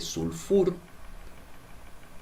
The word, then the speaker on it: sulfur: El azufre, sulfúrico, sulfuroso, porque el pH se pronuncia como F, viene de sulfur.